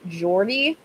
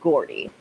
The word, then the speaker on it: Gordy: I don't know if the name is supposed to be pronounced Jordy, but like Lizzie McGuire has taught me that it is Gordy.